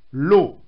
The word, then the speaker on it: Law: L'Écossais John Lave, prononcé à l'anglaise Law, John Law, propose au régent l'ingénieux système suivant.